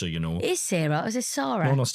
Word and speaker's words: Sara: Is Sarah or is it Sarah? No, it's definitely Sarah. Yeah, but it's spelled Sara.